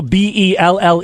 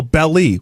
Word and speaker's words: Belle: You know, bell is the right way to say it, right? Yeah. So, if someone started calling Belle Belly, wouldn't you think they're a Bell to belly.